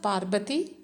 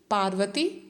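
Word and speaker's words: Parbati: a t i to be pronounced you may pronounce it as Parvati Parvati Parvati Parvati whatever so here also the writer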